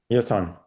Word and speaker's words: Yasin: Yes, on.